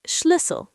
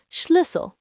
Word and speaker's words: Schlüssel: It's Schlüssel, pronouncing carefully, Schlüssel. Schlüssel. Trying to pronounce it. Schlüssel. That's a tricky one. Yes, the U sound is hard for English speakers. It's like saying E, but with rounded lips.